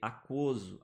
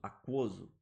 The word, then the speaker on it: aquoso: Eu tenho que ler aquoso, aquoso, aquoso. Beleza? Esse U de aquoso, ele é pronunciado.